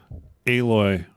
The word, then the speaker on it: Aloy: Aloy from Horizon Zero Dawn. How do you spell that?